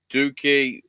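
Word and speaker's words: DOUKI: Doki, or Doki, I will pronounce it, because if it's pronounced Dookie, that's a bad name.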